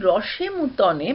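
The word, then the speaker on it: roche moutonnée: ঠিক আছে, এবারে আসি রসে মুতনে বা রসে মতানে। এটা একটা ফরাসি উচ্চারণ, যেভাবেই বলো।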